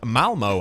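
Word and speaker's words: Malmö: Malmo, I believe is how you pronounce that location.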